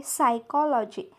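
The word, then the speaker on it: psychology: बघतोय पी एस बघा पहिला शब्द काय आहे सायकॉलॉजी सायकॉलॉजी स्टार्टिंग आहे पी ने पण इथे पी सायलेंट आहे सो इथे पी चा उच्चार होणार नाही नेक्स्ट वर्ड आहे सायकॉलॉजिस्ट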